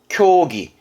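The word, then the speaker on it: 競技: 그리고 경기, 쿄기.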